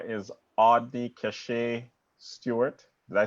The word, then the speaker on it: Audny-Cashae Stewart: Her name is Audny-Cashae Stewart.